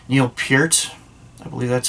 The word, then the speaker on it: Neil Peart: icon, goddamn, I'm going to say his damn name wrong. Neil Peart.